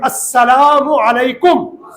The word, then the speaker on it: السلام علیکم: تو واجب ادا ہوگا۔ سلام اور جواب سلام کا صحیح تلفظ یاد کر لیجئے، پہلے میں کہتا ہوں پھر آپ دہرائیں گے، کہیے السلام علیکم، اور صحیح جواب کا طریقہ ہے وعلیکم السلام۔ اللہ پاک ہم سب